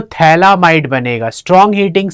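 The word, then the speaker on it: phthalimide: structure of थलीमा इड pH silent है इसको क्या पढ़ना है थलीमा इड प्रोसेस क्या है कि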